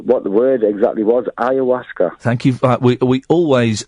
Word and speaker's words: ayahuasca: But that's just to really tell you what the word exactly was, ayahuasca. Thank you. We always like pendants who correct my pronunciation.